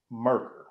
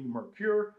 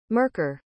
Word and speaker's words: Merkur: The correct pronunciation is Merkur. For some reason, at the last possible minute, I thought better of it. And instead of spending this whole video calling this company Merkur, I decided to ask Google.